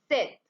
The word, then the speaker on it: cette: Then next, the feminine singular demonstrative adjective is cette.